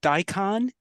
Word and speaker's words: daikon: And then that other raised bed on the right is just daikon radish.